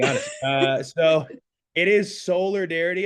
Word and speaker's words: Soulardarity: I'm gon be honest uh so it is solar darity it's to play on like five different words